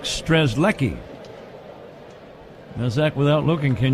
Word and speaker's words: Strzelecki: Zach is bringing down some information regarding phonetics, and it looks like Strzelecki. Now, Zach, without looking, can you spell his name? Ooh. I don't know. Strzelecki.